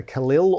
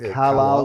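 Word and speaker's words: Calile: you've never been to the Khalil or the Carlisle depending on how you want to pronounce it first of all it's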